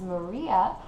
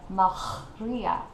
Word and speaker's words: Maria: So, for example, my name would not be pronounced Maria, as we know, or even Maria, as it is in Spanish, but in French it is a Maria.